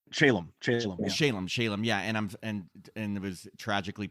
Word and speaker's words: Shalom: And sadly, I know that Brant Shalom, am I pronouncing his last name correct? Shalom, yeah, and it was tragically passed away in 1997.